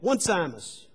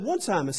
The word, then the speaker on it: Onesimus: He said, Onesimus. He said, no. He said, at Duke, we use the correct pronunciation. And he said, you need to understand that his name is Onesimus.